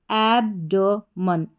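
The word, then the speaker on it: abdomen: फिर है डी ओ ड एम इ एन मन तो पूरा इसका उच्चारण हो गया एब्डमन एब्डोमन एब्डोमन एब्डमन का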